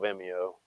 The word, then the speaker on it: Vimeo: that's I don't follow Vimeo. That's sometimes they have ads that they'll throw in there. Vimeo, you don't pronounce the E right.